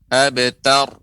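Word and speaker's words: أبتر: Abtar. Kemudian jangan sampai tanya menjadi huruf abtar, bukan tor, akan tapi tar, abtar.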